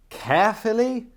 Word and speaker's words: Caerphilly: There was no point accepting random clients from, Jesus Christ, Carefully? Is there really a town called Carefully? I mean, it's spelled Caerphilly.